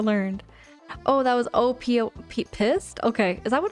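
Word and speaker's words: Pyst: Pissed. P Y S T. Am I pronouncing that correctly there? Midnight Monopoly. If I am not pronouncing it correctly, just let me know. Just let me know. I mispronounce words all the time. Yes, it is. It's pissed. Okay.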